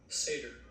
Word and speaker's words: satyr: How do you pronounce the animal that Grover is? Satyr? Satyr. So I have a pronunciation clip here because I don't know how to say it. So I just wanted us to hear it together. So it's a YouTube video. Satyr. Okay, so you're doing it right.